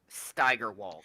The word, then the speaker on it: Steigerwald: so we have Steiger last name close to my area, and some of the family says Steiger, some says Steger. So Steigerwald, I'll remember that because that's close to me is how you say his last name.